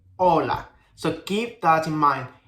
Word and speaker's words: hola: Whenever you see a H in any Spanish word, don't pronounce it because it doesn't have any sounds. So for example, hola. We don't say hola, we say hola.